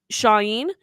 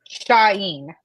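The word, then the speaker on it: Shauhin: Sarah had Cedric Sai uh shyen is that how we're pronouncing it no wait I wrote down the pronunciation shyen yeah cool I thought I thought that and I just wanted to make sure um uh Kevin and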